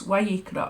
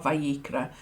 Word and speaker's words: Vayikra: Okay, so it's Vayikra or Vayikra, whether you pronounce the Vav with a W sound, which I've been told is the authentic pronunciation, or a V sound.